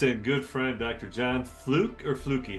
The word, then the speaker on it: Flucke: John Fluke or Fluky, how do you pronounce it? Preferably, it's Fluky, Sunny.